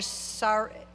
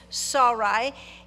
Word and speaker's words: Sarai: be honest with you, I've always called her Sarai. Well, I've called her something different probably all the time. But the correct pronunciation is Sarai.